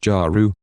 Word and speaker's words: Jeru: Jeru is pronounced Jaru, and is from a planet far off in Draco.